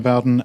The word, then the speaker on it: Bowden: uh I'm I'm Bowen and I I never pronounced your name right I always said it Bowden and I was always wrong all these years uh